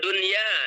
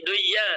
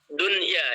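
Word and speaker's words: دنيا: Atau dunya, tidak boleh duya tapi tetap dunya.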